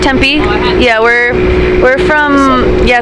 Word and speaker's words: Tempe: Are you from Phoenix or Temp? Is that how you say it? Tempe.